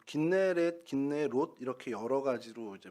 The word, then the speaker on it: 긴네렛: 북쪽 이곳이고 이곳은 구약에서는 납달리 지파 땅이었습니다 어 긴네렛 기네 이렇게 여러 가지로 이제 불리고 있는데 어쨌든